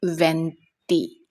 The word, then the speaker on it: venti: 20 in Italian it's called venti.